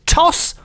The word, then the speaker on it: Tos: Toss, which is spelled T-O-S, just the one S.